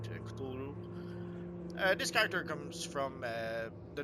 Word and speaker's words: Cthulhu: Cthulhu is how pretty much most people pronounce it, but apparently there's a different pronunciation. For the need of this video, we won't go crazy. We'll just call it Cthulhu.